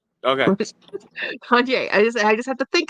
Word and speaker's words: Kanye: Kanye. Okay. Kanye.